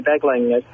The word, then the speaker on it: Beglinger: And my guest today is, is it pronounced Beglinger? Yes, Beglinger.